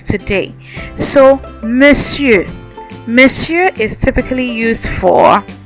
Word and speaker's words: Monsieur: Some of you have been saying Monsieur, Monsieur. I've been hearing so many things, but it's Monsieur. You remember how I taught you to pronounce the E? Monsieur. All right, I know it doesn't sound like it looks, but trust me on this.